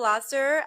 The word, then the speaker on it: Lasser: Lasser.